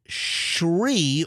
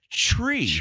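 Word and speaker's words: Chree: do you pronounce it Shri or or is it tree it's tree because it's CHR would be true right yes tree c h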